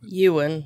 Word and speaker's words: Ewan: galaxy obi-wan kenobi star ewin ewin is it ewen or owen how do you pronounce his first name ewan ewan you and mcgregor you're asking me the